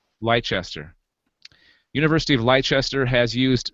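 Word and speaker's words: Leicester: light light do you guys know how to pronounce that I think it's leester leester University of leester has used scientific research to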